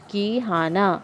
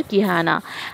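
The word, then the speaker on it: Quijana: यहाँ पे आप लोग देखो नीचे प्रोनाउंसिएशन दिया है Kihana, ओके। ये जो स्पेन का प्रोनाउंसिएशन, यहाँ का प्रोनाउंसिएशन थोड़ा तो अलग है, तो यहाँ पे ऐसे होगा ये mister Kihana, एंड no doubt this was correct.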